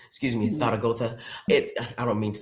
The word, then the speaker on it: Zaragoza: Yeah, I I have a whole new respect for Zaragoza. Excuse me. Thago.